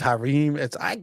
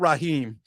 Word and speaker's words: Hareem: It's not Raheem.